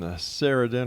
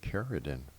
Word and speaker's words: Cerridwen: All right, X Zone Nation, Cerridwen or Cerridwen. Jeez, did I get her name wrong all this time? Cerridwen. I thought that would have been with a K.